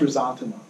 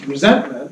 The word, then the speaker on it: ressentiment: Yeah, it's pronounced ressentiment. Who pronounced it in that way? Well, the French. It's It's actually spelled a little bit differently. If you look at it, um there's resentment, right?